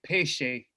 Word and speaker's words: Piesie: name or peshe is how the last name should be pronounced it's a p p shape um but i pronounce it i can't talk like